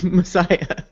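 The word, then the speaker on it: Masaya: the sound because it's I definitely remember it was not spelled like Messiah like the religious term but it definitely sounded like that when pronounced yeah it spilled mas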